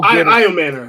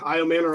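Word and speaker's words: Ayomanor: elec IAM Manor uh Shane you are the pronunciation King how do I pronounce it and how I Manor I man I Manor okay so how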